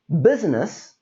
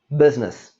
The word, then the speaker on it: business: There is the middle I that we don't say. This is not pronounced as business. This is business.